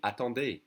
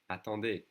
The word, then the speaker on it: attendez: And in the plural or formal would be attendez, attendez. Remember the easy is pronounced E. Attendez.